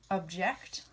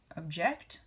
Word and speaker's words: object: say this as project object or object object or object so depending on how you emphasize the syllables the accent and actually changes the meaning object is a thing object means to disagree trajectory submit mission reflector